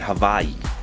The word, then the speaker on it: Hawaii: So imagine my surprise that it's unlocked in Hawaii. And yes, that's how you say it.